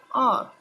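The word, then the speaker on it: hour: For example, an apple, an elephant, an umbrella, an R. Now here you can check. First letter is silent. H is silent.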